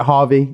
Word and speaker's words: HRVY: was like okay like how do I say his name is it Harvey is it people ask but now it's Harvey yeah but you know